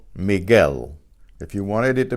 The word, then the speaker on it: Miguel: Not Miguel, Miguel.